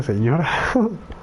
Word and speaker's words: Signora: Si ignora, pues se pronuncia señora.